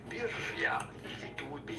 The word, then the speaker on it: birria: How to pronounce birria. Birria.